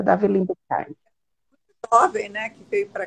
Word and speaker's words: Libeskind: o arquiteto é o Davi Libeskind, né? É assim que Isso. pronuncia? Davi Libeskind.